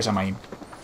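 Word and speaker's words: Samhain: Se pronuncia Samaín.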